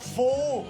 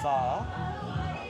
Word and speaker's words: Phở: It's pho. And even then I'm probably saying it wrong, but it's not pho. Pho.